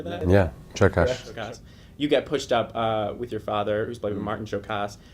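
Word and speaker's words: Csokas: Yeah, Chokas.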